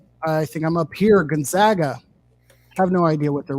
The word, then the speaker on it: Gonzaga: gonzaga um dylan gonzaga also famously pronounced gonzaga and not gonzaga as we made the mistake much of last season um okay hold on